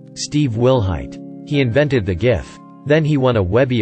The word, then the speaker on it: GIF: He invented the GIF. Then he won a Webby Award for it. Webby Award speeches are only allowed to be 5 words long. He went up and said it's pronounced GIF. not GIF.